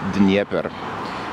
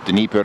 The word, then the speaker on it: Dnieper: Dnieper. Russians spell it with an E. Ukrainians spell it with an I. So Dnieper or Dnieper.